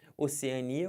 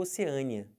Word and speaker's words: Oceania: do continente o continente pode ser Oceania ou Oceania mais comum eu vi isso aqui tá eu sempre coloquei na primeira fileira O que é mais comum e essa aqui na segunda a pronúncia mais estranha embora ambas estejam corretas tá bom soro e